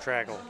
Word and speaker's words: Tragula: Tragula. Tragula. Like Dracula with a T.